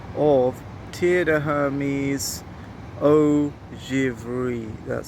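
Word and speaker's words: Givrée: a little sample of tear the Hermes oh javeri that's spelled g-i-v-r-e-e so check it out I'm gonna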